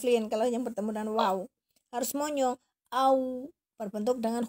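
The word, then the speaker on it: واو: Huruf waw makhrajnya di safatain, di bibir. Huruf wawu ini lain ya. Kalau huruf wawu ini tidak ada huruf selain huruf wawu yang monyong-monyong. Huruf wawu pengucapan huruf waw harus monyong ini. Harus monyong. Waw. Seperti harokat dhammah.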